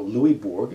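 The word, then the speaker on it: Louisbourg: mean it's louis louis it's french so you don't pronounce the s the silent and the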